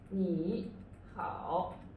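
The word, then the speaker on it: 你好: 你好 right 你好 and the 3-3 combination change into 2-3 combination is 你好 yeah when someone says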